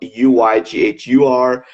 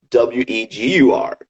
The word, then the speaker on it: Uyghur: As you know, Uyghurs is spelled Uyghur, but when foreigners or non-Uyghurs pronounce it, it's Wegur. Uyghur, right?